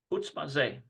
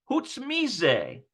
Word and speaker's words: חוץ מזה: Chutz maze. Apart from this, besides that. חוץ מזה. Okay, חוץ מזה. listen to the mise. It's not maze, it's mise. חוץ מזה. Chutz mise.